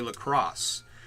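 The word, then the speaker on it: La Croix: was named after and is pronounced the same as uh the city of Lacrosse Wisconsin so is it Wally lroy or Wally lacrosse and everything I know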